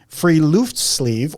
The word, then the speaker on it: friluftsliv: it phonetically here, Stacy, Friluftsliv. Oh. I looked it up. Okay. From a professor who said that is the way to pronounce it, Friluftsliv, or free air life.